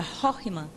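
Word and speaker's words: חכמה: Rockman é uma palavra hebraica que se pronuncia Rockman e significa sabedoria, o potencial do ser, né?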